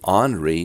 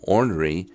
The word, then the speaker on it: ornery: More specifically, it is not pronouncing the R in it.